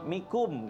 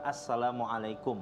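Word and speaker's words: السلام عليكم: Jadi kalau masuk ke dalam rumah, nah kebiasaan apalagi orang-orang kita nih kalau masuk rumah samikum bahasanya kan mikum gitu. Padahal salah dalam pengucapannya dia.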